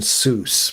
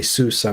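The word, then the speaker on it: SUSE: with open s Yeah, it was pronounced open sus, but uh it's written open sus s u s e, but they say susa because it comes from Germany and that's how I guess Germans pronounce that. I don't know. But anyway, I've been told it's open susa.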